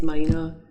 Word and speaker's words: Mina: because in Asian families it's the first name so it's like if you say someone from the from the southeast background it's Mina it sounds as if you're saying my name's Brian but I pronounce